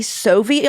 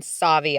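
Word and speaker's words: Sauvie: to ask you, Eden, do you say Soviet island or Savvi Island? How do you pronounce it? I am firm believer in Savvi Island.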